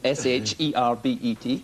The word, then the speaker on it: sherbet: well I spell it s h e r b e t yes fine no problem sherbet as opposed to Herbert it doesn't have not ERT sherbet yes good those those